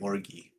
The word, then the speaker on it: orgy: Going into a mind flare den or an orgy? Or Why do you I- keep saying it that way? it is not a hard G.